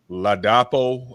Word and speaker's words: Ladapo: Ladapo, I believe is the pronunciation.